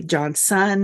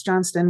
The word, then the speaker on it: Johnston: last name it' be John son or John Stone and I got in the habit I was always like it's John Stone with a t but no e okay and now everyone